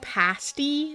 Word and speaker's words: pasty: pronounced pasti. It's pasti. Please stop.